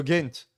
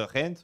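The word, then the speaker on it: Gent: une prononciation selon si tu es flamand ou si tu es wallon. C'est Toi, t'es comme plutôt quoi? de Ghent. Tu peux dire de Rent ou tu peux dire de Ghent.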